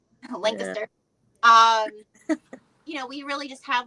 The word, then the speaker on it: Lancaster: Like I'm not far from Lancaster, however you pronounce it. It's Lancaster. Lancaster.